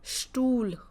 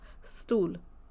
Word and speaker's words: Stuhl: So ST here is Stuhl, Stuhl, not stool, sh, Stuhl. SP sounds like again sh, so Spiel, Spiel.